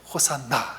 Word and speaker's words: 호산나: 이게 히브리어로 호시아나라고 하는데 이제 구원하서 이거를 헬라오로 이걸 따로 번역하지 않고 그 발음을 그대로 따온 거죠. 호시아나를 호산나 헬라오로 그렇게 부른 것입니다.